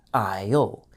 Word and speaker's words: aisle: Notice also that the S is silent in aisle. So, it sounds just like the word I with the letter L at the end. Isle.